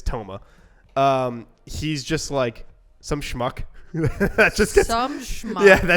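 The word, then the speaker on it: Touma: Tomura? I don't know. She Yeah, I doesn't don't- really say his name. She's just like that guy. Toma. It's Toma.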